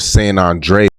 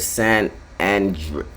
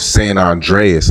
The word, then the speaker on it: San Andreas: This said San Andre Listen. Say it properly, You got me mad. You said it weird.